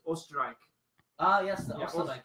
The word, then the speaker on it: Österreich: The German word for Austria is Österreich.